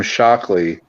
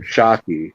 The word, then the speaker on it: Shockey: Anyways, that Green Goblin that was on the semi, my friend Tim Shockley, or Shockey is how you say his last name, purchased that, and he takes it around.